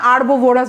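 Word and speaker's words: herbivorous: অমনিভোরাস বলি না, সর্বভুক, কার্নিভোরাস আর হার্বোভোরাস, হারবো তো না, আরবোভোরাস বলা হয়, উচ্চারণটা আরবো হবে, হারবো, আমরা যে এইচ উচ্চারণ করি এটা ঠিক না, ঠিক আছে।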